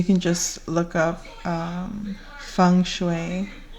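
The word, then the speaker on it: Feng: You can find things um you can just look up um fune spelled F E N G, pronounced F U N G.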